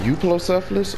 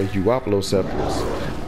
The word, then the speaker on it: Euoplocephalus: pronounce this animals name do you say youth law selfless or euoplocephalus I'm more commonly myself like to say you oppelo selfless but I been on